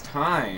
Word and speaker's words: thyme: It's time. It's thyme. It's time because it's a homonym with time, as in time.